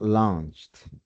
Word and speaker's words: launched: Launch suena launched. Launched al ponerlo en pasado simple.